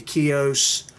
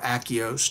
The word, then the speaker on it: Akios: the controls, the knobs on these reels, the Akios or Akios, depending on your pronunciation.